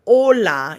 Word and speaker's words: hola: If this letter is starting a word, it is almost always silent, like the word hola.